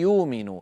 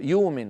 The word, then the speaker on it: يؤمن: إمامنا الجزري من أجل ضرورة الشعر قال: وأدغما بغنة في يؤمن. يؤمن أصلها يؤمن. نعم، آمن يؤمن. فإذا أبدلنا همزتها واوا لأنها ساكنة يصير النطق يومن، وهذا أمر تفعله العرب بل تفعله قريش نفسها.